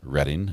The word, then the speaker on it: Reading: Reading is pronounced Reading, not reading.